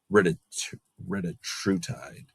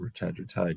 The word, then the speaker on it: retatrutide: So you might hear retatrutide, but I'm going to go ahead and call it retatrutide because I want to keep the emphasis on the same syllables as I do with the other medications.